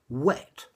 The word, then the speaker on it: whet: Okay, the first thing you need to pay attention to with this word is it's pronounced wet, as in water is wet.